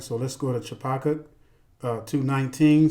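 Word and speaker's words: Habakkuk: so let's go touch apakah 219 some people pronounce it her Becca says whoa yeah 219 it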